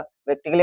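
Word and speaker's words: practically: इसमें भी देखो डबल एल वाई आ रहा है। देखो आ रहा है कि नहीं आ रहा? आ रहा है भाई। तो इसको क्या हो जाएगा? प्रैक्टिकली हो जाएगा। प्रैक्टिकली माने होता है वास्तव में।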